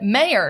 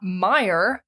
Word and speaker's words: Mayer: it as an ey John Mayer spells it yeah and he pronounces it mayor not Mayer John nevermind yeah I don't